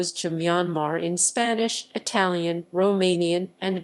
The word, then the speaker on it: Myanmar: The final R in Myanmar was not intended for pronunciation and is there to ensure that the final is pronounced with the broad A in father.